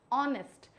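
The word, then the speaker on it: honest: वो गलत है क्योंकि इसका जो उच्चारण होता है वो होता है ओ से एच को यहां साइलेंट एच का जो स्वर है एच की जो ध्वनि है वो दबा दी जाती है तो यहां पे इसको मैं पढूंगी ऑनेस्ट एन ऑनेस्ट एंप्लई एन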